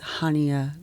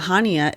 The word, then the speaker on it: Chania: So Chania is actually spelled with a CH, sort of like the traditional way you spell Hanukkah.